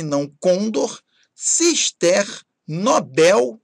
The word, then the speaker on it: Nobel: Condor e não condor, cister, Nobel e não Nobel, Gibraltar, Eiffel e não Eiffel, Hangar e Timor. Repare, então, que a sílaba tônica tem que ser a última.